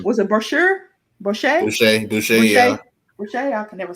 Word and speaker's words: Boucher: Was it Brochure? Was it Brochure? Boucher, yeah.